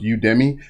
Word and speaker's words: Udemy: And some guy told me that I actually pronounced Udemy wrong. It's pronounced Udemy.